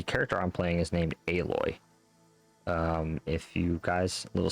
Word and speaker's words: Aloy: um it said alloy on it like as in aluminum alloy or a metal alloy. So her tribe named her after that called her Aloy cuz they didn't know